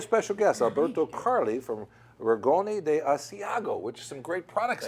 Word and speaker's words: Rigoni di Asiago: And by a special guest, Alberto Carli from Rigoni de Asiago, which is some great products, I understand, that are being sold at Salumeria 104. Absolutely. How do you do on the pronunciation there? Good? Rigoni di Asiago.